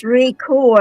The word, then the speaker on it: Rayco: It's Rayco, I suppose, but her Ray- proper name is Rachel, but she likes to say Rayco.